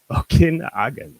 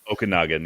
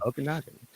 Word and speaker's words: Okanagan: Okinagen, right? Is that how it's said? Okanagan. Yeah. Okanagan. Uh, and on the trail of Bigfoot, the origin.